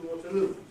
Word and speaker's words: Waterloo: So when you have, for instance, Waterloo, which station are you going to? I'm going to Waterloo. But if you refer to the station, and now you put the main stress on station, you don't say, I'm going to Waterloo Station.